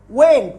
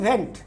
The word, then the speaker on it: Went: ওয়েন্ট, ইংরেজিতে বলে WENT, বাংলায় আমরা বলছি ভেন্ট। ওয়েন্ট উচ্চারণ নেই, ভেন্ট।